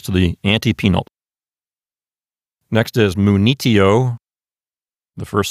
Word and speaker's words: munitio: Let's look at the penult, which is T-I. Does it contain a long vowel? No, the I is short. Is it a closed syllable? No, T-I is an open syllable. So there's nothing making that penult into a long syllable. So the accent goes to the antepenult, which is N-I. So this word sounds like munitio.